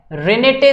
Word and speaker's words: Renette: एक specialised sales होती हैं रेनेटे सेल्स, ठीक है।